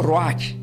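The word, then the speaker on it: ruah: la palabra Espíritu Santo en el griego se pronuncia como Roach r u a h y santo decimos kados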